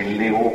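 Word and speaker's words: Leeuw: de nous disons l'UVE il faut prononcer Léo par est-il Jean de Léo qui était le le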